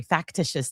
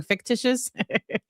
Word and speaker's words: factitious: Sorry, factitious disorder. I keep saying fictitious. Factitious disorder is the way that you pronounce it and that's what we